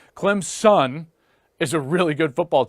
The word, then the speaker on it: Clemson: Clemson fans are like it's not Clem's in its Clem's son I'm like really like